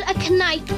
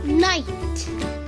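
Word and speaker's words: knight: we become a kite what you just say a kite it's not called aite it's called night the the K is silent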